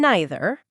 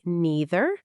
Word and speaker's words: neither: ei-ther both are correct same with neither you can say nee-ther or nei-ther i personally use ee-ther